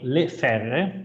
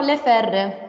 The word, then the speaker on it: Le Ferre: to present his company le faire okay yeah okay is in french pronunciation no no le ferde so as you can